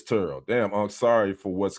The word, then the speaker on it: Terrell: Okay, cuz he No, he pronounces his name Turo. It's not Terrell. Okay, but it is Turo.